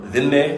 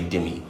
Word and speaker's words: dhimmi: And then you have the invention of what's called the demi status or dimme is the appropriate pronunciation in Arabic, but we usually just say demi.